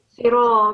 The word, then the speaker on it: صراط: And then it's sira, because the ra comes with a fatha. So you have to pronounce that with a heavy sound. It's sira. What you've pronounced is just sira. It's not sira, it's sira.